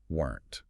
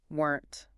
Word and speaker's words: weren't: It looks like it should have two syllables, but native speakers usually swallow it into one fast sound. Weren't. Weren't.